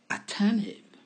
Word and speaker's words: attentive: Attentive. Attentive. Prévenant. Attentif. On n'entend pas vraiment le T dans cette prononciation. On entend juste attentive.